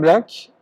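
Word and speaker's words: Blake: Alors, cette vision presque fantasmagorique, mais également paranoïde, William Black, si on le prononce à l'anglaise, qui était un poète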